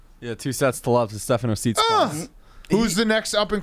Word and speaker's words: Tsitsipas: Yeah, 2 sets to love to Stefano Tsitsipas.